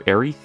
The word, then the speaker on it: Aerith: alright there is uh Aerith or arey I call her Aerith that's how I pronounce it there's Tifa Lockheart